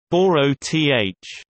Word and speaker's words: Boreth: Boroth, the most sacred place of Klingons, pronounced Boroth, where Kallus was supposed to return.